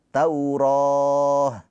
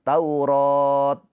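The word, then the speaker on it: تَوْرَاة: Ta marbutah ini ketika wakaf atau berhenti ya, dia enggak dibaca ta lagi, tapi dibacanya berubah menjadi huruf ha. Tauroh bukan taurat bukan ya.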